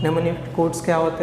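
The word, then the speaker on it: mnemonic: निम्निक codes क्या होते हैं? तो हमारे इंग्लिश अल्फ़ाबेट की तरह ही होते हैं, ठीक है। तो निम्निक कोड्स का यूज़ किया जाता है इसमें। निम्निक, एम साइलेंट है, निमोनिक कोड्स इज़ यूज्ड,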